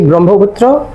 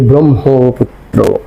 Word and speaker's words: ব্রহ্মপুত্র: ব্রহ্মপুত্র করে না করে আমরা ব্রহ্ম আগে ম পরে হ বলি কেন সেই কথাই কিন্তু